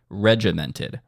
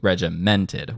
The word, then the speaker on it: regimented: Notice where the accent is on that word, regimented. That is a front-loaded accent. Regimented, as opposed to regimented, which is sort of where I am setting it.